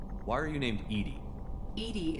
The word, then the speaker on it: EDI: are you named edie edie is the phonetic pronunciation of e-d-i that is an acronym